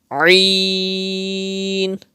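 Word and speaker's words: ع: You have to pronounce Ain from the middle part of your throat.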